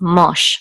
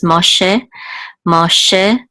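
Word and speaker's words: משה: After a cholam, the shava is pronounced. So this is Moshe, and this is a vet with the cholam again.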